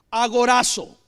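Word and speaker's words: ἀγοράζω: redención, es la palabra agorazo. Agorazo. Ahora, así se escribe y así se menciona o se pronuncia en español, así no se escribe en griego, pero es la palabra agorazo.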